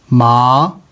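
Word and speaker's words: 马: अब इसका मीनिंग बदल गया, यानी फाइब्रस क्रॉप्स। अब आते हैं 3rd कॉलम की तरफ। इसमें देखिएगा कि मैं कैसे प्रोनाउंस कर रहा हूँ, माँ, ये देखें, माँ, माँ।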